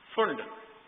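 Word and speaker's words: Pfund: फुंड इज पी से, P silent, फुंड, Humphry.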